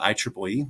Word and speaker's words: IEEE: things we talked about IEEE that's actually the preferred way to pronounce it even though it's an acronym for institute for electrical